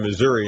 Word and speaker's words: Missouri: a little more Southern they pronounce Missouri Missour uh but you're right